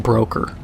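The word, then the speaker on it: Brôkhyr: It's pronounced broker. But it's got a bunch of umlauts and like a TH in there because dwarves and Norse spellings and Germanic stuff, they gotta just Flanderize the hell out of it.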